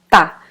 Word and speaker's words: tá: So instead of saying ele está, it's very common to listen people saying ele tá, which is the last syllable of the word.